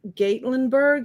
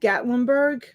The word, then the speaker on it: Gatlinburg: spot that i can um make get gate gatlinburg is that how you say it gatlinburg gatlinburg we have a customer that we have